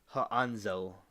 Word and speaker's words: Hansel: name you probably already know is Hansel and pronounced H anzel from Hansel and gredle cuz my my whole